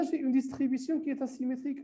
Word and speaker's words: asymétrique: On prononce bien S, même si je n'ai qu'un seul S ici. Donc, on ne lit pas asymétrique, mais asymétrique.